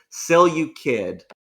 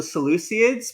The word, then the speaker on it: Seleucid: of their unit selection it's actually pronounced cell you kid i will call them the seleucids because me mince pronouncing